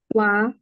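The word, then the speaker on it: は: saya Mike Miller perhatian partikel eh H ya dibacanya wa tulisannya Ha Tapi bacanya wa itu yang pertama jadi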